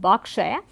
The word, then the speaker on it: Berkshire: the diphthong A, and there are also certain words which have the letter E, but in terms of pronunciation the long A continues to be used. For example, it is Clark, Barclay and Berkshire, and in spite of these a few